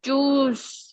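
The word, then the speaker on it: chose: आई चूस आई चोस बोलोगी उसमें एक ओ कट जाएगा तो उसकी प्रोनाउंसिएशन होगी।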